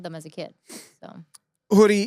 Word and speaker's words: Houry: y like like ay but you pronounce it hoodie and her last name